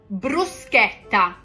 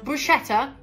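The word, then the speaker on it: bruschetta: the most obvious one brusa brusa not brushetta BR no no no don't want to hear that when you c c h in Italian it's not CH it's C BR p p again C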